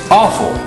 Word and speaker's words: offal: what is known as offal, and it's spelled O-F-F-A-L. Sounds about right, offal, but what it comes from is the word meaning off fall.